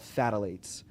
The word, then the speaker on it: phthalate: everything, there's what's called phthalates. And that phthalates attacks the reproductive system. And you can look this up. It's a pH. It's not TH. It's phthalate. So the pH, the P is silent.